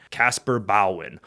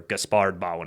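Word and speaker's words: Caspar Bauhin: Casper bowin or gaspard bowin. Again, different places have different pronunciations for these words.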